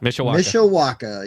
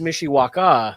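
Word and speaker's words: Mishawaka: mitaka did I sayaka Mish Waka actually it's pronounced Mishiwaka thank you I'm sorry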